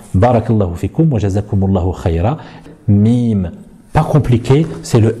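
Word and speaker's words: ميم: Nous ne dirons pas ma, mais nous dirons mais, donc mimou, mimou, très facile. La chose qu'il ne faudra pas oublier lorsqu'on prononce la lettre mim, c'est de la faire accompagner d'un nasillement.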